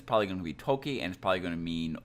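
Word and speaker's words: とき: for wind in that case it is actually pronounced as Toki and not G it's a different reading for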